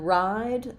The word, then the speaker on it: ride: And then ride, letter E, makes the I say its name. So it has the same I sound as in the word write, but it ends with a D. So I'll hold that vowel a little longer.